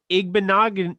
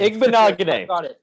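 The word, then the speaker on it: Igbinoghene: Okay, Noah Igbenogany. I'm not even going to pronounce that name. Igbenogany.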